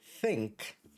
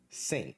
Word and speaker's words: think: lot of students who still struggle a little bit with pronouncing the word think when they're actually saying the word syn so they say oh